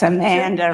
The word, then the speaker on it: Amanda: once again I know it's Amanda rhymes with Shanda yes uh Amanda Adams